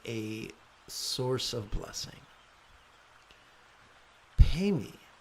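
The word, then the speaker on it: padme: a source of blessing pay me is the pronunciation of pme which is lotus Lotus here is a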